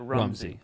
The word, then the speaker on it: Rumsey: yeah he checks out his name's room Z Rumsey he's a writer he pronounces at Rumsey okay it's Rumsey and he's gonna be